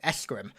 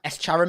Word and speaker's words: Escharum: We're introduced to a new brute war chief, Escharum. Do we know how to pronounce that yet? Escharum? Escharum? Escharum, maybe? Oh, yeah. Pronounce it emphasizing the Arum sounds quite Greek, actually.